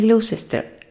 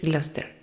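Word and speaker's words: Gloucester: "El Glossister", responde Rodete alto. Se pronuncia así. Creo que debes decir Gluster.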